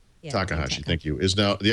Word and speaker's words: Takahashi: I always get this guy's name wrong. Dean Hakatashi or something. A former. No. This is the former Xbox guy who kind of writes about video gaming now. Said that the Xbox. Dean Takahashi.